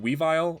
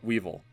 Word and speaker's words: Weavile: Do you guys pronounce it Weavile or Weevil? I think it's Weavile, and then there's Sneasel, right?